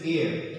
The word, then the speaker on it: heir: here okay okay here the pronunciation is here who is not here so it is here it means someone who